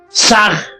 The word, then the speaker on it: Sah: Saj se escribe con las letras S-A-H.